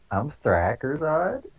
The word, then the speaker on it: Thrackersod: I'm Thrackersod. That's how you say it. No one knows how to say it. Uh, Thrackers odd.